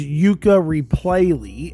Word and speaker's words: Yooka-Replaylee: I always say it wrong cuz of course the original game was called Ukulele, but this is Yuka Replayley.